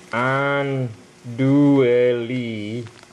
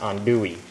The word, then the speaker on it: andouille: me show you the package now it says it's spelled on do sausage but it's pronounced on Dewey and I live in a place where they